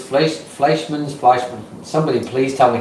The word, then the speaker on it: Fleischmann's: I bet it's like Einstein, right? So you're going to say Fleischmann's.